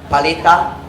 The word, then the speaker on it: palita: Palita.